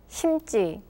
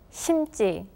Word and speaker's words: 심지: 심고, 심고, 심다, 심다, 심지, 심지. All of the first sounds for the suffixes are read as tension sounds.